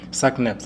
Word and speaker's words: SACNASP: Do check out SACNASPS. That's how we pronounce it. But in terms of the short name is SACNASP.